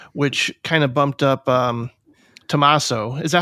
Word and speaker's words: Tommaso: in a row, which kind of bumped up TOMMASO. Is that how you say it? TOMMASO? Yeah, yeah. TOMMASO, yeah.